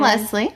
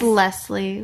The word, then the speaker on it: Leslie: i'm britain and i'm leslie leslie and we're it's leslie with an s not a z as britain will pronounce